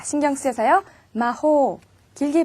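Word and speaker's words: 魔法: 마호, 마법이라는 뜻이에요. 이렇게 단어의 제일 마지막에 장음이 오면 짧게 발음해서 틀리기 쉽다고 했죠. 자, 신경 쓰여서요. 마호, 길게 발음해주세요.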